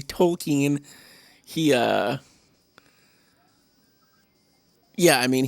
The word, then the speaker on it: Tolkien: it's literally hard like people who love token tolkien i should say i'm not even saying it right i just say token i say it wrong all the time but i just kind of the way my accent is i guess i just say it say or i guess i just say it wrong that's the way my uh speech impediment is but tolkien i'll say properly tolkien he uh yeah i